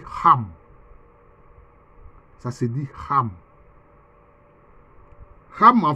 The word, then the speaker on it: Ham: est l'ancêtre des noirs quelquefois ça s'écrit en français Cham c'est Ham mais en fait ça se lit comme ça c'est en langue hébreu ça se dit rame ça se dit rame